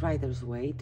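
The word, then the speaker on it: Rider-Waite: i was saying it right um it is writer's weight because writers was the first publisher it's the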